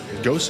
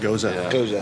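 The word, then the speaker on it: Gose: Ghost, is that how you say it? Goza. Yeah.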